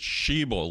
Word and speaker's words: Sheeble: It's Sheeble, long E, like a female bull.